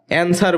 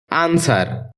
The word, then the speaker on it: answer: এটাকে আমরা অ্যান্সার বলে থাকি, যার সঠিক উচ্চারণ হচ্ছে আনসার।